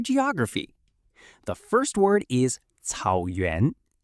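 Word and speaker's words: 草原: The first word is cǎoyuán. Cǎoyuán is pronounced cǎoyuán and means grassland.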